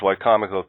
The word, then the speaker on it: Wicomico: And just for the listeners, Wicomico County is over in, and the reason I can pronounce it properly is only because we were going to move to Wicomico County from Monmouth County, New Jersey.